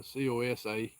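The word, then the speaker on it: Coosa: Cucha River is for the Cus and they didn't really pronounce it that way. It was a COSA and that was a big kingdom.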